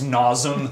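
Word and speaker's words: Nasum: to you guys yeah it's not nasm it's nazom uh screaming Oak says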